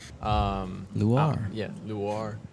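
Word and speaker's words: Luar: Uh, so my name is Luir. Um, Lu. Yeah, Luir. Spell that.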